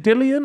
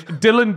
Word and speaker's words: Dillon: speak about um dillian is it dillian or Dylan Dylan Dylan no not because you have dillian white yeah but it's not spelled the same right yeah they're two different names aren't they they'll have a look yeah it's definitely Dylan you don't need to chat yeah it's Dylan Dennis didn't even turn